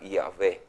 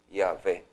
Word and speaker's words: Yahvé: Esto se pronuncia como la palabra Yahvé. Yahvé.